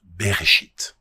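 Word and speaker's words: בראשית: Le premier mot de la Bible en hébreu se prononce beréchit et il est généralement traduit par au commencement.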